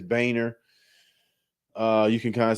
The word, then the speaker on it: Boehner: It was had a weird, like a little twist of a spelling, but he didn't pronounce it boner, he pronounced it Boehner, although it looked like boner.